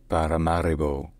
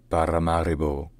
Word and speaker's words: Paramaribo: pronounced pararo pararo and in Dutch it's Paramaribo Paramaribo so in English pararo pararo and in Dutch Paramaribo Paramaribo all right if